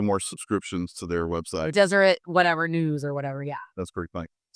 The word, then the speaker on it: Deseret: What was the Desert. It's spelled wrong. Desert? No, it's spelled D-E-S-E-R-E-T. Deseret News. Oh. Instead of desert.